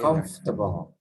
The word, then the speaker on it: comfortable: tiny tiny little eye comfortable comfortable affordable comfortable comfortable comfortable comfortable okay we don't pronounce the or comfortable no don't do that